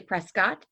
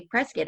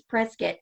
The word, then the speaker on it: Prescott: But the people who live there and around there say Prescott. And even on like the side of a building, a grocery store in Prescott, it says it's Prescott rhymes with biscuit.